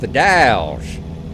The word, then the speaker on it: The Dalles: my coffee it's pronounced the dolls says the a is pronounced like trap so it's dowels and almost with a z on the end owls i'll tell you